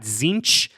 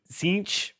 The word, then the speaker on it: Tzeentch: Tzeentch, sometimes you get a little T at the beginning. It's there, but sometimes you get it.